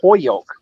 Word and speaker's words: Holyoke: Now, people from Holyoke don't say Holyoke; they say Hoyoke. So they almost take the L out. But only people from Holyoke know that.